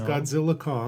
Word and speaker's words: Godzilla x Kong: Kong they new Empire Godzilla X Kong No it is Godzilla Kong sure but the x is in the title do is silent no respect the ex it's silent uh they don't kiss